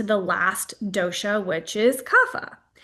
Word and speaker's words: Kapha: And then we're going to come to the last dosha which is kafa. Kafa is spelled k a ph. You may also hear it pronounced kappa or kafa.